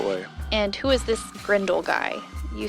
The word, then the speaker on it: Grindle: you say grle no no grindle grindle um g r i n d l e not g r e n d e l but as the villain